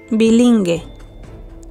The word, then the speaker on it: bilingüe: Indica que se pronuncia la U cambiando el sonido a GUE, GUI. Escucha las palabras. En la segunda, oirás la letra U. Pingüino, pingüino. Bilingüe, bilingüe.